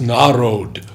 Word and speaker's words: Narad: He would say to others who gathered there, "I am Nirod and this is Narod." Bengali pronunciation.